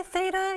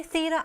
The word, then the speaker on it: theta: past 45 Thea Thea the Americans say theeta you say Thea I sayato you say